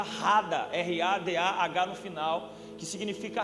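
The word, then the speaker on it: רדה: A palavra dominai é uma palavra que vem do hebraico, que se pronuncia Rada, R-A-D-A-H no final, que significa reine, governe.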